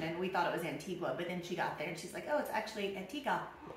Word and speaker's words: Antigua: Well, you know, A-N-T-I-G-U-A? Antigua. It's Antigua. Antigua. So no so U. That's tricky. Okay. I know. I remember when my sister went there on vacation, and we thought it was Antigua, but then she got